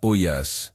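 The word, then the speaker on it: ollas: Prononce ça Oyas, si tu veux pas avoir l'air ridicule au jardin partagé. C'est un mot espagnol qui signifie simplement pot ou marmite.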